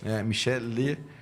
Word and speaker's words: Michele: Michele, Michele, assim como se escreve mesmo, M-I-C-H-E-L-E, é como se fala.